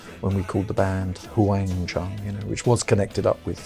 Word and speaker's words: Wang Chung: Let's go with that, The spelling of it was originally Huang, Wang Chung, although that's just the English spelling of it. But that seemed to confuse people, couldn't pronounce it. So they'd call us Hung Chung.